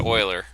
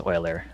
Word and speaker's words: Euler: because he has a lot So of you pronounce it Euler. That's how I pronounce it as well. I think that's the I German hear people say way. Euler Um, sometimes, and I'm I've like, always I don't know.